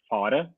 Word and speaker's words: Fahre: It's a kind of a German word which means to drive. So but we say just Fahre.